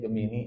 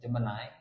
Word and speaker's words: Gemini: Kita menyebutnya Gemini. Ternyata cara bacanya Jemenai ya.